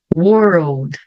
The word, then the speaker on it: world: Então puxa e daí esse L Na verdade ele vai soar como se tivesse um o na frente como se eu fizesse